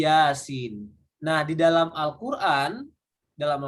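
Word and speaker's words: يس: huruf-huruf yang terputus jadi ketika kita baca ayat seperti ini bacanya bukan ya bukan biasa tapi Yasin nah di dalam Alquran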